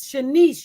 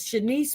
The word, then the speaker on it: Shanice: is continued, where the mother, her name is Shanice, you guys. If you want to look it up, find out some more information. Her name is Shanice Moore.